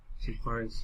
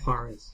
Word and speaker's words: Juarez: Juarez. To J is Hold on. pronounced as a Y. Juarez.